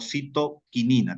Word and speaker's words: citoquinina: La citocinina o citoquinina también. Cualquiera de los dos nombres.